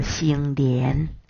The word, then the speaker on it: 成年: 成年念作兴廉。